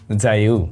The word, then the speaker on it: JIAYOU: আজকের ভিডিওতে আমাদের সাথে একেবারে বাংলাদেশের নতুন একটা প্রোডাক্ট রয়েছে, নতুন ব্র্যান্ডের প্রোডাক্ট, জাইউ বলতে পারেন। এটার উচ্চারণটা একটু ডিফারেন্ট ভাবে হয়, JIAYOU, জাইউ।